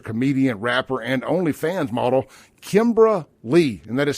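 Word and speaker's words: Kymbra Li: Notice on social media influencer, comedian, rapper, and OnlyFans model Kimbra Lee, and that is spelled Kymbra space Li. Kimbra Lee.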